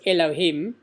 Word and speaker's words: Elohim: name which the Torah starts with which is Elokim you pronounce it if you say it out it's Elohim that's also more than a hundred times the